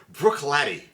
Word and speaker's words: Bruichladdich: 108 109 breish Lish Brook latty but it is spelled breish lsh this is the brook